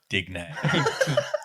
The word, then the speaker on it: Digne: know how to pronounce it. And from now on, we'll be calling him Digne.